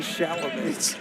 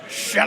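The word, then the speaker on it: Chalamet: pronounce it what it's Adrien bro T be sham you got to pronounce it like Adam Sandler did sham I didn't actually watch Jackson Powell another please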